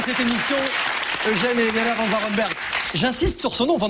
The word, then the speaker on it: Van Varenberg: Au fond, le début de ça, c'est que Van Varenberg était assez compliqué pour les Américains. Le A se prononce E, le E se prononce I, donc ça donnait des Van Varenberg, alors mais il a voulu une consonance belge.